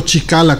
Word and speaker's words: Cicala: Estamos hablando del padre Mario Cicala, o Chicala, como pronuncian algunos.